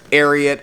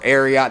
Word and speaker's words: Ariat: So the extent of my boot knowledge comes from Ariat or Arot depending on kind of how you pronounce it.